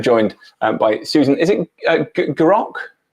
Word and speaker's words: Gerock: And so today I'm joined by Susan, is it Gerock? It's Gerock. Gerock, sorry, soft G, apologies.